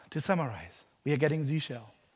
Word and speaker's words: zsh: summarize we are getting Z shell it's pronounced Z shell bash three-bin bash is